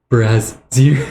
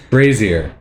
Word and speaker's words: brazier: I'm like, how do you say brazier? Oh, I think you're saying that with like the wrong syllables. The wrong emphasis.